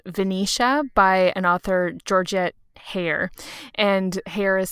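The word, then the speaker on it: Heyer: book is called venetia by an author georgia hair and hair is spelled h-e-y-e-r i have seen her name floating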